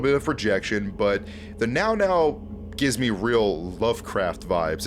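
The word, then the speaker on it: Mnggal-Mnggal: of projection, but the Now gives me real Lovecraft vibes. It's very Lovecraftian and eldritch. Like, even the name, like, it looks like Mngall-Mngall, but it's pronounced like Now.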